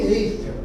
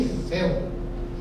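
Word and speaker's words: Eiffel: Outra sutil, uma outra que coloquei de propósito, não existe torre Eifel, pelo amor de Deus. Aquela torre que existiu lá em Paris há muitos anos é a torre Efel.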